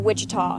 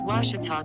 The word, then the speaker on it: Ouachita: university back in texas everybody pronounces it wichita but really it's ouachita washington washington how would you pronounce it it's washita baptist university get it